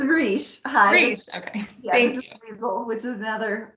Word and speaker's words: Roche: family of roche please tell me how to pronounce your name correctly yeah it's rich okay which is another